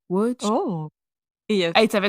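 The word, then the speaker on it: Łódź: ville qui s'écrit l DZ mais ça se prononce W oh etit ça c'est frayant il est il est n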